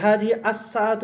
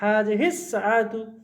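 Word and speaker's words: هذه الساعة: Scene এমন একটা হরফ, তার আল থাকলে লামের উচ্চারণ হয় না, আর সিনের উপর তাসদিদ হয়। তো হাজি হিস, এখানে আবার এইটুকু একটা নতুন নিয়ম আছে, শিখেছি, জড়িয়ে পড়তে হবে। এবার হাজি আসাতু, এভাবে না, হাজি হিস সাআতু।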